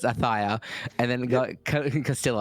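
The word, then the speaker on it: Ayutthaya: How do you pronounce that one, Jif? Ayuthia? Ayuthia? Yeah. We're going to work for production. It's Athia.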